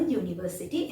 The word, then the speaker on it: university: Like for example, if I say a university, here the word starting with a vowel and begins with a U sound like you, EU. We are placing article A like a university in the sentence.